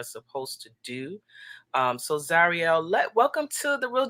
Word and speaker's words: Zarielle: name i know it's exotic but um it's zarielle mm-hmm plaid twist that is nessie it's zarielle zarya thank you mama excu excuse me for